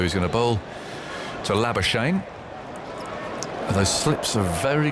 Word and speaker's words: Labuschagne: So he's going to bowl to Labuschagne.